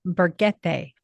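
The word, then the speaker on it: Burguete: of help us out they pronounce every single letter except the letter H so it's pronounced berete oh Beret buret yeah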